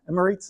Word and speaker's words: Emirates: Emirates is how you pronounce that.